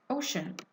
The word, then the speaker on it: ocean: Ocean. Ocean has two syllables, one O and then shun, the other syllable, and then it's noun as part of speech.